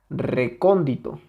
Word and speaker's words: recóndito: podríamos tener la palabra recóndito recóndito la separamos en sus sílabas re con di to recóndito Okay tenemos una dos 3 cuatro sílabas Esta es la última Esta